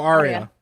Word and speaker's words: Arya: How do you pronounce it? Oh, Arya.